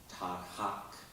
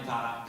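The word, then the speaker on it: Tagaq: sure you could, was Tanya, and forgive my pronunciation, Douglas, Tahak. No, sorry. Tanya Tarak, an Inuit singer.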